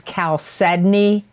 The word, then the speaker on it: chalcedony: got for cancers for november of 2021 is calcedoni that is pronounced correctly calcium it's spelled c h a l c e d o n y chalcedony is a nurturing stone it promotes brotherhood